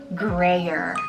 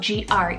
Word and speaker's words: Greyer: I love Greyer, spelled G-R-E-Y-E-R, Greyer.